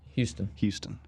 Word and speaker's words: Huston: Houston. Nigel Houston.